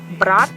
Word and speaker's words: брат: For instance, брат, брать. Брать is a verb to take something. Брат is brother. So it's very important to learn how to pronounce that because the meaning of the word can change.